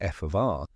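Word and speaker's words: f(R): For instance, in FR, gravity theories, pronounced F of R, one key term in Einstein's field equations, is replaced by a more complex mathematical function.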